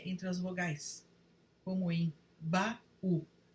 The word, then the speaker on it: baú: No hiato, ocorre uma lacuna na pronúncia entre as vogais, como em baú. Sem o acento, se fosse o caso, pronunciaríamos bau, como ocorre em bacalhau.